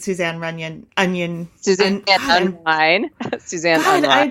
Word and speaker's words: Unrein: This is an interesting side note because I love that my last name is German and it is actually pronounced in German Unrein, and it actually means impure, unclean, which I think is such a great name for a painter, don't you?